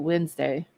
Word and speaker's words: Wednesday: or Diet Coke okay Wednesday has a d but who you pronounce I pronounce it Wednesday true Wednesday that day is silent uh half the [